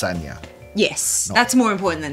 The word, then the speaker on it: Sanja: this but both is fine yeah but it's pronounced sagna yes that's more important than the spin not sanjay eric there isn't any extra footage we used